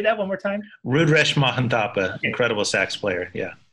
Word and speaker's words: Mahanthappa: I'm going to horribly mispronounce that last name, John. You're going to have to save me with that one. Mahanthappa. Rudresh. Say that one more time. Rudresh Mahanthappa, okay.